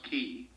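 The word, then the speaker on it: Qi: days ago was that the key cards spelled q i I think is pronounced key the key cards or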